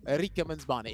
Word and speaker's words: Rikemansbarnet: How do you pronounce your name? And he goes, Rikemansbarnet. If you really want to say it properly, and I said, right, I'm practicing this from now on.